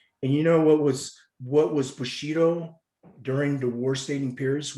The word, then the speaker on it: Bushido: And it's broken down into 3 syllables. Bushido.